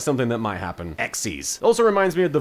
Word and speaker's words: XYZ: did learn is that it's not pronounced XYZ summon it's pronounced X